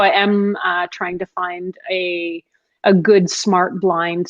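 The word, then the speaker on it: Phyn: yeah um and it's a device called fin it's spelled p-h-y-n and it's just it's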